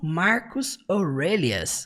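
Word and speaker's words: Marcus Aurelius: Embora a gente fala assim no português Marcos Aurélios, no inglês eles falam Marcos Aurelias, um pouquinho diferente, né?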